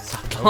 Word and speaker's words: subtle: And how there's a silent B in the word subtle.